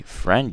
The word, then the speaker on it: friend: we have friend actually friend you guys has a missing eye as well so friend you don't pronounce it but it's there here we have interest